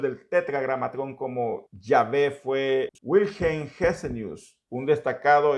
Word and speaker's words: Yahvé: Ahora, hoy en día muchos han afirmado que la mejor manera de pronunciar el nombre de Dios no es como Jehová, sino como Yahvé.